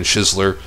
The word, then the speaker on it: Shizler: It's actually good to hear them say his name, because I never knew if it was Shizler or Scheisler, and they're saying Shizler.